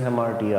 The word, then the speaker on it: hamartia: is very important right hamara or hemara whatever you would like to pronounce but it is hamartia actually uh so hamartia refers